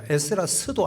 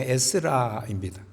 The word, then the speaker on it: 에스라: 오늘 이 본문은 여러분들 에스라예요. 에스라스도 아니고 그냥 에스라입니다. 에스라. 우리가 이걸 그냥 편의상 성경이니까 에스라서라고 읽긴 합니다.